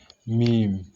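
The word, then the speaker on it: ميم: You're transliterating it like this, meme. So that is how we transliterate it. If you want to pronounce, follow that procedure.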